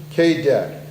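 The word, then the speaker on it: Kaydet: it's a pt1 17 known as a steeran k de and the KET is spelled k a y d t now that's a pt7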